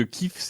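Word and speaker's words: Kyiv: est fautif parce que j'ai appris récemment que cliffs est elle la façon une chrétienne de prononcer le nom et kiev la façon russe et que en ce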